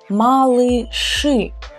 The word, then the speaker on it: малыши: We write и here and here, but these two consonants are always hard. They just were born hard and it's their nature. So we will still pronounce them hard, as if you were saying Ж with an У and Ш. Ш. So миражи, малыши.